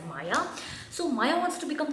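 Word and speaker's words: Maia: we form of Maya it's Prana like m-a-i-e so I'm gonna pronounce it as Maya so Maya wants to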